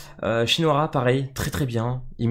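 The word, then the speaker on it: Shinohara: très intéressant aussi alors lui j'arrive jamais à le prononcer c'est shinoara normalement si je me trompe pas shinoara pareil très très bien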